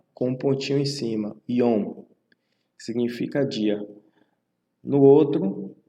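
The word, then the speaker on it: יוֹם: Então, observe que é Yom, né? Porque o Yud, ele é o I, né? Equivalente ao I. E o Vav, com o Rolem, pontinho em cima. Então, a pronúncia fica Yom. Então, observe os números, tá? Esses números aqui. A sequência de como pronunciar. Primeiro você pronuncia o I, depois o O, que é o Rolem Vav, e depois o Mem. Então, fica I, Om, certo?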